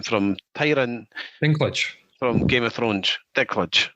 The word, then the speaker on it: Dinklage: Dinklage.